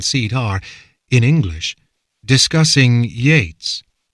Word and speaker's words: Yeats: are, in English, discussing Yeats, which Ancash pronounced Jates. "Not Jates, Yeats," says Herakles. "What? Yeats, not Jates. Sounds the same to me. It's like the difference between jello and yellow.